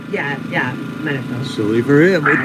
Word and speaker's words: Munafo: Yeah, Munafo.